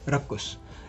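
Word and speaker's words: raucous: Next is राउकस. राउकस. रक्कस. इसको basically रक्कस तरीके से प्रोनाउंस करते हैं, राउकस, ठीक है. ये रक्कस, रक्कस, रक्कस के रूप में पढ़ा जाता है.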